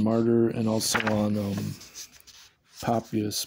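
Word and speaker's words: Papias: and also on um papus popus um is that how you say his name p a p p i a s pop p a p pops yeah popus so yeah there's actually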